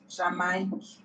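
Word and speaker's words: Jamaïque: It's usually placed above the second of the two consecutive vowels when both vowels are to be pronounced separately. For example, Jamaica. Jamaique.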